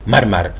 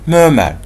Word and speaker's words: murmur: murmur رجاء لا تنطقوها مرمر زي ما كثير من الطلبة ينطقوا. This is not murmur. This is not murmur. This is murmur.